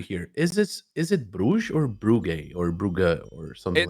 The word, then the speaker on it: Brugge: It's Brugge, but I don't want to do that to anyone. And like the English pronunciation of the city is Bruges, so I just go with Bruges.